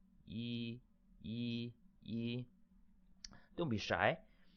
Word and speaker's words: 一: on a piece of paper like this e yi yi yi don't be shy you know talk